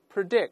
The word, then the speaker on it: predict: 生，对，我们大声再读一下 foretell， predict，动词重音一般在后面。